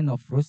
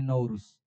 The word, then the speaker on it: Nowruz: Dan peringatan hari raya terbesarnya orang-orang Azerbaijan adalah hari rayanya agama Zoroaster, yaitu hari raya Nauruz namanya. Kalau bacanya Nowruz, tapi kalau kita bacanya Nauruz.